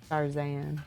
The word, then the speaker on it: Sharzan: When I saw the barbarian part, I thought it must rhyme with Tarzan, because I like the pun.